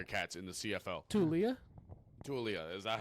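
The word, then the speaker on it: Taulia: Tulia, is that how you say it?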